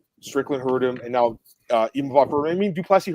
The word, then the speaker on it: Imavov: I'm pronouncing it correctly, Marcel. Imavov.